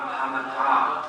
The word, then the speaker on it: bhavatā: And ladies, Śrī-indrah uvāca pratyānītāh parama bhavatā, not bhavatā. When you see a line over the syllable, pronounce it long. When you don't, then pronounce it short.